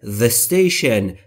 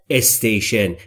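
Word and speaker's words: station: با توجه به اینکه اس در استشن بی صداست میچسبونم به میشه اسنشن اسنشن اسنشن نگفتم استشن این تلفظ اشتباهه یعنی اون ایستگاه خاص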